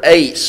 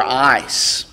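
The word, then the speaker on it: εἰς: one of them is the Greek word ace or ice depending on whose pronunciation you go by the greek word ace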